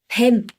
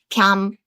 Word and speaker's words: 뱀: Snake is 뱀. 뱀. 뱀. Snake is this. Ah. snake. snake. Yes. In 충청도, they will pronounce it like 뺨.